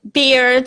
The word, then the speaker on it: beard: So because usually E and A is pronounced E, like sea, you know, ocean, sea, and seed here. So the beard here, that should be E.